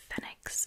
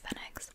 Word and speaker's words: Fenwick: we went into um Fenix is what they they call it up in the Northeast it's spelled like Fenwick but I hear the British people say fex and Laura got herself